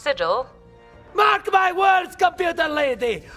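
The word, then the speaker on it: sigil: when my bear was more than just a seagull on my shield it's pronounced Siddall mark my words computer lady markleham bring back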